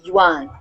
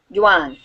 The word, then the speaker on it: Yuan: Yan um the uh the Chinese say something different than the English but that is how we pronounce it in English the Yuan Jan excuse me so